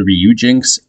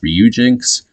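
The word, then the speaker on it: Ryujinx: we can access the reuginks emulator uh bear with me if I'm not saying that correctly I believe it's pronounced ryuginx so if we want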